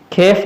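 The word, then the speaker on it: Kyiv: खेफ जो है इनका कैपिटल है, इनको कीव लिखते हैं लेकिन खेफ इसका करेक्ट प्रोनाउंसिएशन है।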